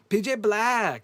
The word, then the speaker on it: PJ Black: PJ Black. That's how they pronounced his name.